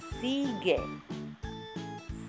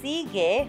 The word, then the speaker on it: sigue: Sigue. Sigue. So you see, sigue has a new U that is not pronounced. The U is silent.